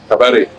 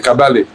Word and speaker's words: Kabare: le je dis le nom de cabalet cabaret ouais en fait c'est kabalé c'est kabalet kabalé ah